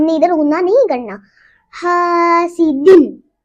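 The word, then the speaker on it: حاسدٍ: حاسدن, ہم نے ادھر جھٹکا بھی نہیں لگانا, بس ایسے پڑھنا ہے حاسدن, تاکہ آپ لوگ ایسے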